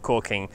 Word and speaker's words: caulking: the english-speaking world it's usually spelt with an l but pronounced however the hell you want to pronounce it the way i speak it sounds like caulking however it's spelt so